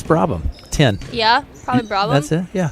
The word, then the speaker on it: Brabham: Emily, how would you pronounce that name? I even talked to Bryce. What's his number? It's Brabham.